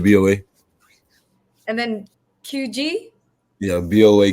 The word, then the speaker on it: BOA: yeah, that's how you say it, BOA.